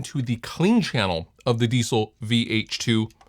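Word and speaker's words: Diezel: So I'm just going into the clean channel of the Diesel, as it's pronounced.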